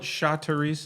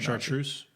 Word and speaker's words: chartreuse: do you know what cha-terese is uh what do you mean it's a color chattery's am i saying it right i might chartreuse chartreuse thank you uh what color does